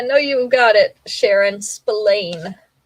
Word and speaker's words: Spillane: Spillane. It's not spelled like David. It's Spillane. Spillane. Spillane. It sounds like Splain.